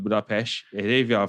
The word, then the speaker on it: Budapest: So that's something similar to like Budapest. Like the locals will call it Budapest. And if you are a foreigner like Englishman, you probably probably call it Budapest.